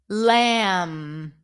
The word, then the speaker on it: lamb: in the following words the B is not pronounced bomb not bomb so when you have the MB spelling at the end you do not pronounce the b bum com lamb okay okay let's see